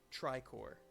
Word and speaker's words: Tricor: took the lead uh the next one is tri core tri core is this a pokemon or is